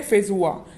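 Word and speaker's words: feijoa: तरीके का होता है और इसे कहते हैं फेजुआ यानी कि फेंजोआ, इसका प्रोनाउंसिएशन है।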